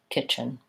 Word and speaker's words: kitchen: sound kitchen kitchen mighty if I do a T at all it's kind of a stop T kitchen kitchen but because when I'm saying it fluently there's not really much of a break there kitchen I think that T is either silent stopped or dropped out entirely and I just do